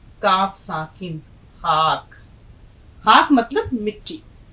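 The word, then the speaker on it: خاک: लिखना भी सीखिए और इसका उच्चारण भी े प्लस अलिफ प्लस काफ खाक अब देखिए ख को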